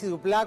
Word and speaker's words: Dupláa: Duplá, con acento en la A, como era que te presentaba así en el agujerito sin fin.